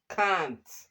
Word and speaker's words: can't: Then The a here is long a. Can't.